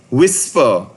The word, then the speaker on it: WSPR: to connect to a radio so again wspr whisper is weak signal propagation reporter that is what